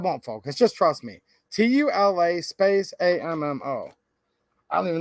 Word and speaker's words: Tula: So again, this tool ammo is actually Tula ammo.